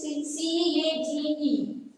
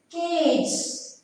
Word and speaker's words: cage: Try it is C-A-G-E. See last letter E. Cage. Cage. We are not pronouncing kg. We are not pronouncing. So here E is silent. E silent, not pronouncing only here.